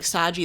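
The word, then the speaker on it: Sajee: I wrote it S-A-J-E-E, like Saji. That's how I read it how I pronounce it, so I think it's Saji.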